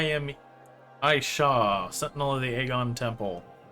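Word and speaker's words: Agon: AA Sentinel of the aegon temple which I for years as a child I kept mispronouncing as argon I don't know why I wanted to stick a r in there this message survives my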